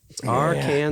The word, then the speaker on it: Arkansas: It's Arkansas.